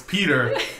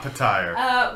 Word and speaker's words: Petyr: Beatish, Baelish's name, I'll get that one right because it's Petyr, not Puh-tyre.